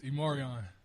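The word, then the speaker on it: E'Marion: It's Immoran.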